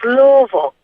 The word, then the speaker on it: Louisville: Hey, Shasky, I want to tell you, as a person who has family from Kentucky, they pronounce it's Louisville, not Louisville.